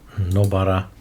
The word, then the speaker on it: Nobara: We're missing Debian, Fedora, and there was Nobara, that's the correct pronunciation.